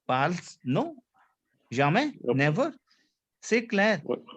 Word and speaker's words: parle: My first E, my first that P-A-R-L-E that belongs to I, which is je parle. Je parle. Say clear. Why didn't you pronounce the E?